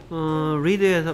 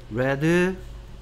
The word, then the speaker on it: read: read red red read red red. 스펠링은 똑같은데 예의 발음이 여기서는 이 발음이고 여기서는 에 발음이다. Read red red.